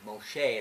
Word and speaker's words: Moshe: to them generation to generation from Moses or Moshe as we say his name in Hebrew and